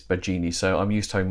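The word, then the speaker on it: Baggini: If it's any consolation, I'm always called Bagini when it's Bagini, so I'm used to having my own name mispronounced.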